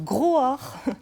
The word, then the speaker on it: Groaar: pas évident à prononcer gros or comme le cri d'un agir j'aurais essayé comme le cri d'un animal sauvage il s'agit d'allier la